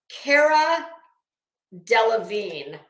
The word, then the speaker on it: Cara Delevingne: okay I can never say this girl's name Cara Delevingne I believe is how you say it I